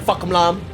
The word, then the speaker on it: FAHK: And if you're wondering why I'm calling him FAHK, that's how you say his name.